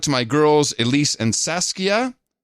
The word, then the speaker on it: Saskia: my girls Elise and Saskia John you pronounce Saskia as Saskia Saskia last time which upset her she was five back then now seven get Adam to pronounce this Dutch name Saskia Saskia Saskia I hope